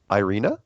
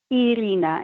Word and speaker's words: Irina: That's not how you pronounce it, but yes, that's the reason why. How do you pronounce it? Irene. I'm dying How do you to know. pronounce it? Irina. It's Oh well. E, not I.